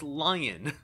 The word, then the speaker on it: Leon: coming to you because you keep pronouncing his name wrong it's lion oh that's who did